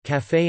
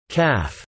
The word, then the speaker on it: café: For example, café and pâté both have a pronounced final e, which would otherwise be silent under the normal English pronunciation rules. However, café is now sometimes facetiously pronounced calf.